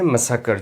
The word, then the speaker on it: massacre: Carnage होता है मैसेकर, जिसको आप कहते हैं। और पार्ट्स ऑफ स्पीच की बात करें तो ये नाउन है, MASSACRE। मैसेकर की स्पेलिंग पे ध्यान दीजिए फ्रेंड्स। MASS मास और ACRE एकर। मैसेकर।